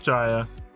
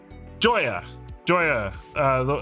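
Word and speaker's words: Jhoira: You don't know how to spell it? Ha! Anyway, he played not Jaya. Joya.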